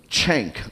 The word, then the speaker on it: Cenk: You're actually supposed to pronounce it like chank, almost No, like no, almost no.